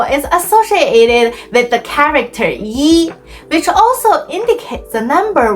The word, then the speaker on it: 一: However, if 一 is followed by a syllable in the fourth tone, it changes to the second tone, as in 一定, which means sure or certainly.